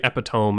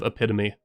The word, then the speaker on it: epitome: I used to say epiome instead of epitome, so don't worry about it.